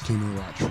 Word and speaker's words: Kinu Rochford: Is it pronounced? Yeah, yes, Kinu Rochford.